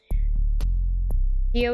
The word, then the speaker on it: Kyo: Kyo is more like one syllable, or like Kyo, like yo with a kick.